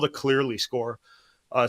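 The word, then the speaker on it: Cleerly: it of it is unstable that's called a clearly score uh spelled with two e clearly CLE e RL y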